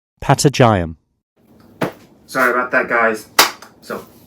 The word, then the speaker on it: patagium: Sorry guys, I went back home and searched if it was the right pronunciation, and as it turns out, it wasn't. And so the correct pronunciation was Patagium.